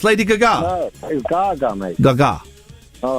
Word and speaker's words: Gaga: I I genuinely thought that was how it's pronounced. Lady Gaga. No, that is Gaga, mate.